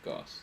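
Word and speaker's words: Gauss: So, so you say his name Goss.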